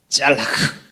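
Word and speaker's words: צלח: 저에이 원래 형통하다라는 말이 헬라어로 아 히브리어로 짤라크 이렇게 발음하는데 젤라크와 사칼이 있는데요.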